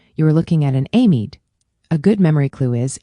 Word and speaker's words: amide: Another common mistake is mixing up amine and amide. Say them carefully. Amine is pronounced "uh mean" and amide is pronounced "am ide".